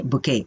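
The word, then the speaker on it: bouquet: बुके की spelling में last में टी भी होता है। राइट? और लेकिन उसको प्रोनाउंस नहीं किया जाता। क्या बोलेंगे? बुके।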